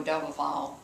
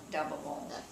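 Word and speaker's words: Daboval: Milo Doubleval, the man that our bookkeeper, our comptroller, I guess you could call him, and he, if Mr.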